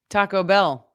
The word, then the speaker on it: Taco Bell: How do you say Taco Bell? Taco Bell. Bell's the is the word that you hit in that.